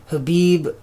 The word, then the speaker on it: Khabib: yesterday like khabib or I should say khabib that's that's how you pronounce it khabib literally did some God